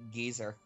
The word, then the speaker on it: geyser: geyser and Nate brother they pronounce it geezer I've never heard the pronunciation before okay but it's a